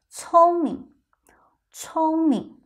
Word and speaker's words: 聪明: Here notice the tone of 明 is a second tone, but in your real life, most of the time, we pronounce it with a neutral tone. 聪明。聪明 ,alright, the sentence, 我的猫很聪明。我的猫很聪明。My cat is very clever.